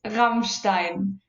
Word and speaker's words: Rammstein: Rammstein, if I'm pronouncing it correctly. Oh, it's Rammstein.